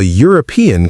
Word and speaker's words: European: European sounds like it starts with Y too, so they take a, not an.